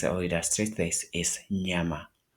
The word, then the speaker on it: nyama: like in Kenyon and the SW word which pronounce it straight this is nyama nyama nyama nyama is meat nyama is meat in English.